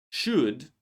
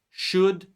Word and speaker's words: should: it in words like should, would, could. Remember that these words we don't say L. These are modal verbs and we don't pronounce L in these words.